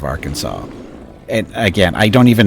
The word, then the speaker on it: Arkansas: Some people will say R Kansas, right? Some people will say R Kansas instead of Arkansas.